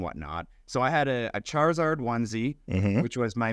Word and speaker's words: Charizard: So I had a Charizard onesie, Mm-hmm. which was my main go-to. It's pronounced Charizard.